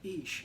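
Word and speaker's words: Ix: Like, I find this incredibly fascinating because in Mayan astrology, I am the Jaguar, Ish, I-X, that's how you spell it.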